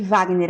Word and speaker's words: Wagner: Lembrando que Wagner é com W e o G é mudo.